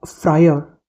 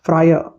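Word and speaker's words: friar: एक और अच्छा वर्ड है अह फ्रायर। स्पेलिंग बताता हूं। एफ आर आई ए आर तो फ्रायर नहीं बोलेंगे इसको। इसमें लास्ट वाले आर का साउंड नहीं आता। इट्स फ्रायर।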